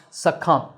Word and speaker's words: succumb: The “b” at the end is silent – so it’s pronounced “succumb.”